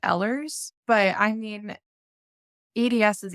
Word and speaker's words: Ehlers: condition called eers Danos I hear there's kind of a controversy on how that's pronounced or not I've heard a few different pronunciations how about you have you heard different ways to say it I a million different way I personally pronounce it Ellers but I mean EDS